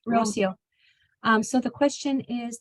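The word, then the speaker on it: Rocío: to hear how you say it my name Rosio Rosio um so the question is the I sound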